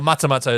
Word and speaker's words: Matamata: Matamata? Well, no, living in Hobbiton. New Zealand. Living in the Shire. For those international, Hobbiton, where it was filmed, is in Matamata, New Zealand. Or Matamata, it's pronounced in New Zealand.